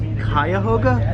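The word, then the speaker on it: Cuyahoga: It's pronounced Kayahoga. Kyoga. Oh, thank God.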